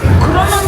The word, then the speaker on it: Kronos: Kronos is pronounced as I'm saying it.